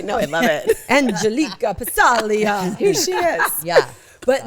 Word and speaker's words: Passaglia: But the best is is Chris called them Piglia for years. Years. Oh, that's right. I think as a joke. No, because he didn't know how to pronounce it. Well, it's Italian. The G is silent, so he just called it piglia.